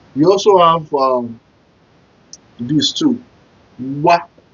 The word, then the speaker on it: wa: Wa, W-A.